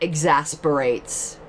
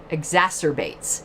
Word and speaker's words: exacerbates: So that exasperates, or not exasperates, how do you say that word? Exacerbates.